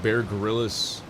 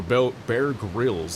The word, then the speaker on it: Bear Grylls: I don't think Bear Gorillis or Bear Grills, that's how you say his name.